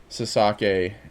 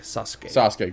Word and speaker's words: Sasuke: was great Sasaki and Did I say his name wrong? I know It's I said it. Sasuke, great Sasuke, and Taka Michinoku. Do you have to go to your wife? Is it Sasuke?